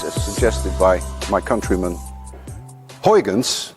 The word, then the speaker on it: Huygens: suggested by my countrymen Huygens which actually should be pronounced none of you can say hajens and if any one of you can say Hogans there is a 99.9 chance that you Dutch even Peter Peter you